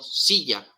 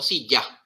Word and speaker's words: silla: la vida por ejemplo si yo pronunció la palabra silla si hago cierto énfasis o cargo la voz sobre estas sílabas sobre las y si porque yo digo silla no digo si ya ok digo sillas cargo